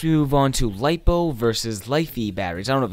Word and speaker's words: LiFe: move on to lipo lifee batteries out of its life life eos pronounce it life E which is lithium polymer